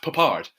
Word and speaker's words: Peppard: 1, I'm a dick, and 2, it's pronounced Papard.